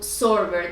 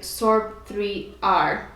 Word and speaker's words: Sorber: supposed to be called Sorber. That's how you pronounce it. Because this that looks like a 3 is an inverted E, but the IP office here in Ecuador, they read it like Sorb 3R, and that brought us